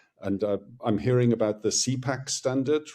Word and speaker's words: CPACE: We pronounce it CPACE because CPACE stands for Common Payment Application Contactless Extension.